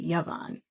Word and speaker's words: Yvonne: See, this entire time, everyone's been pronouncing her name Yvonne, but it's actually Yvonne.